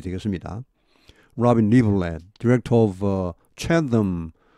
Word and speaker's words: Chatham: Robin Liverland, Director of Chatham. 요 TH 발음은 터입니다. 터. 고유명사가 이렇게 터로 나는 게 있죠. TH가 타머스 이렇게 할 때처럼.